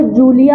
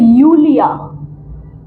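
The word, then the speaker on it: Julia: ठीक है, किसी का नाम अगर जूलिया है तो that is नॉट जूलिया, that is यूलिया, क्योंकि जे की प्रोनाउंसिएशन क्या है?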